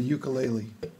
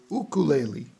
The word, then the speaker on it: ukulele: a Hawaiian word and it turns out that I've been saying it wrong my whole life so I'm trying to say it better Oh Glalie so that was kind